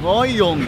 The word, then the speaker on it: Ngohiong: Ngohiong. Ngohiong. Ngohiong. Okay. It's hard to pronounce the H somewhere there, but there's an H there.